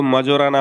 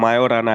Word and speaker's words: Majorana: one chip है क्या वैसे इसको पढ़ते हैं तो मजो राना होता है बट इसका नाम मायो राना है क्योंकि इसका जो जे है वो साइलेंट है ये कोई ऑर्डिनरी कंप्यूटर